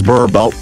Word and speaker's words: Boerboel: Whereas in the Afrikaans language, the name Boerboel, pronounced as Boerboel, translates to farmer's dog.